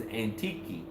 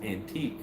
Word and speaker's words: Antique: how it's said and just like the next province to me is antiqui and if you if us from the west read it it would read as antique like an antique furniture